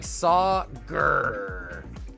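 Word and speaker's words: Sagar: It's S-A-G-A-R. So it's more like Sauger. Yeah, but no, it's, you know, honestly, it does look like it would be spelled with an E, but for whatever reason, it is spelled with an A.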